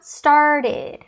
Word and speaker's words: started: Se o verbo no infinitivo terminar em T ou D, a pronúncia vai ser essa daí. O I, aquele I de bitch, e o D.